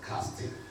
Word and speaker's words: casting.i.ng: If you pronounce that, that will be casting.